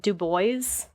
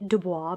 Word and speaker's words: Dubois: absaroka mountains located near du bois which is like literally how it's spelled you'd think it was like dubois but it's du bois wyoming and this is